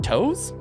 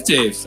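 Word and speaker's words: Toews: We're going to have Cale Makar and Devon Toes. Is that how you pronounce it? Is it Toes? Yeah. I think it's Taves.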